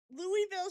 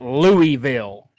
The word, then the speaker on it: Louisville: But tell me why is there Louisville's hot like Waverly is not the only hospital. First of all, it ain't Louisville.